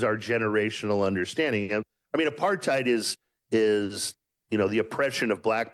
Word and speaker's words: apartheid: Is it Apartheid? No, it's apartheid.